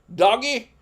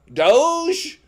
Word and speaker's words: Doge: how do you how do you say it doggy Doge oh okay well Doge was worth a thousand